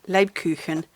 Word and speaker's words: Lebkuchen: And you know, gingerbread, Lebkuchen, it's pronounced.